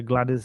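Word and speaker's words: Gwladys: very happy in the Glad Is end is that how you pronounce it glad is it's got a w in it isn't it i' never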